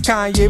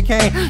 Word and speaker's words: Kanye: Now all I need is y'all pronounce my name is Kanye, but some of my plaques, they still say Kane.